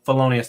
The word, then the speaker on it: Felonius: 2024 they've unveiled uh fonus as the 2025 felonius how do you say it felonius fonus okay thank you felonius that makes more sense because it's like Faker right um so felonius